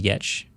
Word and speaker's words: Giertz: But I think it's interesting with your product design business, which is Giertz, just so we have the pronunciation verbally.